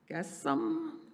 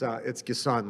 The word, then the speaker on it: Gassam: Car Wash LLC, Gassam, could that be approved? Pronounce it. It's Gasun, like Gasun height? The sun. That's how you can remember it.